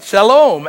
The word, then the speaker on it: Shalom: you've all heard before the Hebrew word for peace is Shalom Thank You Jordan teach us how to say it right Shalom absolutely it's the most